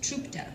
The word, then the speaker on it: Czupta: resent you for it my last name is pronounced trta or as my friend's Grandpa likes to say trta like TR and I try to explain well it's more the CZ is more like a CH so it's trta ah